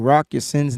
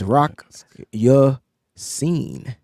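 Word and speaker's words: Ya-Sin: And we've been pronouncing Rock Yacin's name wrong for our whole lives. It's Rock Yacine.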